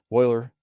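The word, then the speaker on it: Euler: the famous Swiss mathematician Leonard Oiler pronounced Oiler he was asked to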